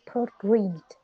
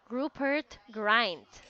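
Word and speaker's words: Rupert Grint: for the first word how do you pronounce his name what poor greed Rupert grind good right ok that's better do you know the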